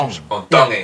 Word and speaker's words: Tongi: Tongi. You pronounce the T's like a D in the Tongan culture. Tongi.